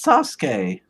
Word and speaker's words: Sasuke: you didn't even say his name right it's sasuke sasuke i don't even care yeah yeah the